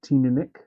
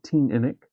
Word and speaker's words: Teaninich: According to Google, Teaninich spells Teaninich or Teaninich with the emphasis on the middle syllable.